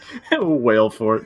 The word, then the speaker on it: Valefort: thank you laughing and I said his name wale for no it's the right way to say it but I can't